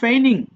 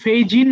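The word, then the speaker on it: feign: বলছো হয়াই আর ইউ ফেনিং এটা কিন্তু ফেজিন হবে না জির উচ্চারণটা নাই ফেন হবে ট্রেইন মানে প্রশিক্ষণ দেওয়া।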